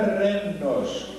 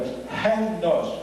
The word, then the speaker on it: Rhenos: lá a palavra renos, que não é renos com a ponta da língua, hos com a garganta, é cultural. É uma pronúncia que não existe em português.